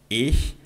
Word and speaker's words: ich: E e tá o a pronúncia desse ch no idioma alemão do I. Basicamente você vai fazer o de cachorro no português, mas com a língua travada atrás dos dentes aqui de baixo. E ó. Ih. Ih.